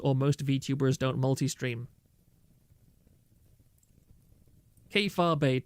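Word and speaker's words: kayfabe: Keifabe, 2 syllables, we've been over this.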